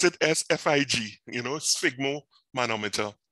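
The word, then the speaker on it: sphygmomanometer: fixer right right so fig you know say pronounce it as fig you know sigmo manometer right and this is used uh the invitable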